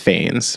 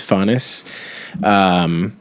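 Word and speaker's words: Phanes: It's Faunus, or I don't think it's pronounced Fanes, but I believe it's Faunus, who is, I believe they're also called protagonists, which means firstborn.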